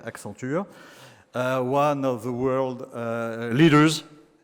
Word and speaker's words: Accenture: I'm going to pronounce it in the French way, Accenture, one of the world